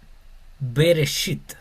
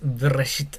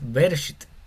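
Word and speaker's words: בראשית: puse aquí que está beresit. Aquí sí la pronuncio, no es verit, es veresit. Beresit. Aquí el sheva si se pronuncia, aquí no.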